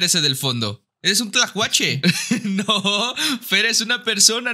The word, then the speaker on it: Tlacuache: Tlacuache Tlacuache Tlacuache Javi A ver vamos a pronunciar esa l esa l nos está faltando Ok Tlacuache la l cuache no Pues de